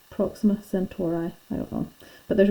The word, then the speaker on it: Proxima Centauri: pronounce everything wrong okay i've always pronounced this proxima centauri and but i have heard other people pronounce it proxima century i think that's why mrs turner pronounces i'm not sure about mr ross actually and so apologies if i'm pronouncing that wrong proxima centauri i don't